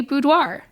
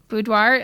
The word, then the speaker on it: boudoir: people just to say budoir budoir I just like a bu and a d but technically it is a French word it's the French word for bedroom and so the